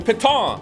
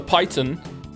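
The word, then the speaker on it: piton: in in the wall that mouse made fun of me for not pronouncing properly cuz it's a French word. The paton the paton you can have more patons or as I said the python make fun of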